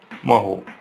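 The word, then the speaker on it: mho: या फिर इसको क्या कर सकते हैं, और इस स्पेलिंग को उल्टा कर देते हैं, महो।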